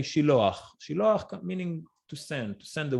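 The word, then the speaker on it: שילוח: Originally in Hebrew, we say Shiloach.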